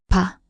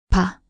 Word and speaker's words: 바: unaspirated soft P sound, while between vowels it often sounds like B. The shape represents a closed mouth. Example with the vowel a, this forms pa, pronounced ba. 바, 바.